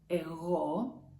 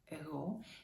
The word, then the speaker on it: εγώ: And that's εγώ. Εγώ. You know it, right? Be careful, the accent is on O. Εγώ, omega, εγώ.